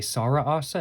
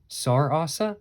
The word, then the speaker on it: Sarasa: SAR Assa I guess it's not really Sara Assa it's more sarasa I guess is really the right way of pronouncing it but um what are